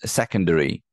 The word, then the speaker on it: secondary: right married and then the three is secondary secondaries so again the first syllable primary primary first syllable